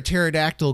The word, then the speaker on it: pterodactyl: Why can't you hear a pterodactyl go to the bathroom? Why can't you? Because the P is silent.